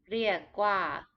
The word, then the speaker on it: เรียกว่า: This word is written with an R. Many Thai people will pronounce it as an L, เรียกว่า But the proper way is to roll it a little bit, similar to Spanish, เรียกว่า but common speaking,